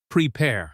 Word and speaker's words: prepare: ChatGPT suggested corrections such as, "Prepare should stress the second syllable, prepare.